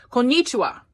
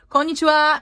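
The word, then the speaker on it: こんにちは: r sound is accent how they say hello good afternoon konnichiwa although you never hear any Japanese say like that how do they say it konichiwa but no Americans just ignore it they just put their own American accent but they don't care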